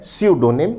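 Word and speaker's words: pseudonym: शब्द का उच्चारण है सडोनिम या सूडोनिम। इस शब्द में पहला लेटर पी साइलेंट रहता है।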